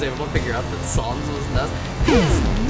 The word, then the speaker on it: Sans: Also, I would like to say that it's pronounced Sons. It is not Sans.